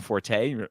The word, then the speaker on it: forte: second way yeah because when you say Fort everyone's like you mean Forte well no actually you don't say Forte technically supposedly Fort is the right pronunciation but I have seen linguistic experts say no that's actually not right oh yeah Grant